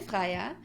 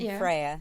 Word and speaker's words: Freya: Freya, you pronounce it in UK. We just learned. We just learned. Yes. Slightly confusing. We've got one Andrea, one Freya, and one easy.